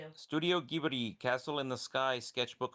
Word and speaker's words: Ghibli: Studio Ghibli or wait, Studio Gibbery. That's That's how it's pronounced. Yep. We saw a video studio Gibi Castle in the sky sketchbook hard cover.